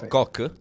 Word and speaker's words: Cork: isolate bravo è bravo koch di koch nord cork con la erre che non si pronuncia no dunque alla truffa